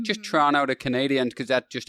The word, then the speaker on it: Toronto: But well, the other day I said to Joe, I said Toronto, and he was like, it's Toronto. Like, and I was don't like, say the T, just Toronto.